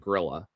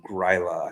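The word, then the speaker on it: Grýla: And then he got together with Grilla, the Christmas witch, or Gryla, I think, is really the pronunciation.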